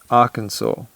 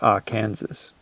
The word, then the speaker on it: Arkansas: In a past podcast, I can't remember which one or why, but I mentioned Arkansas, but I said, I read it like it reads, and it's Arkansas. Like, that's exactly how it's spelt.